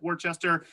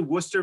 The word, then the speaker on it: Worcester: to emphasize that pronunciation you can see here from the spelling it does look like worchester it is actually worcester massachusetts so we do drop a few letters there in the middle to get that pronunciation but if you're going